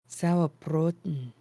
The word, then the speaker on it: Sauerbraten: Speaking to those who have come before us, I think it has time now for that sour braten and beer. Sauerbraten.